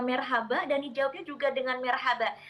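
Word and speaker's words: Merhaba: Jadi dibacanya marhaba dan dijawabnya juga dengan marhaba.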